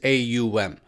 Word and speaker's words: AUM: is the oldest layer of sanskrit it is a um that is precisely how it is how it is spelt and pronounced in roman transliterated form so